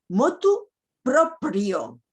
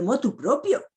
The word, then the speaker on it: motu proprio: Motu proprio. Que es difícil pronunciarlo, pero no de motu propio.